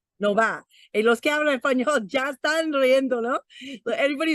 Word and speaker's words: Nova: story behind it but Nova you break that into two syllables no but the VA in Spanish is like ba these are like ba right so Nova Nova hey Los Gators but